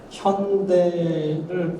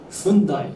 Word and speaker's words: 현대: 저희가 그 테이트랑 국립현대미술관이랑 그다음에 라크마랑 10년 파트너십을 어나운스 했을 때 BBC에서는 현대를 발음을 정정을 해주더라고요. 사람들이 훈다이 했는데 not 훈다이, 현대.